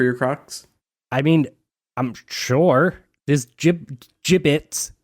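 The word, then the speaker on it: Jibbitz: There's gibbets. First of all, giblets. I don't think that's how it's pronounced. Giblets are what's in a bird that you pull out.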